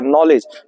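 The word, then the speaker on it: knowledge: means ज्ञान या जानकारी नॉलेज का स्पेलिंग बोलेंगे के एन ओ डब्लू एल ई डी जी ई ठीक है नॉलेज इसमें जो होता है के साइलेंट होता है के क्या होता है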